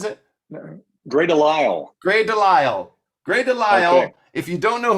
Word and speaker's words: DeLisle: Gray Delisle, is that how she pronounces it? Gray Delisle. Gray Delisle.